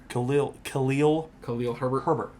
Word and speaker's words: Khalil Herbert: Khalil Herbert.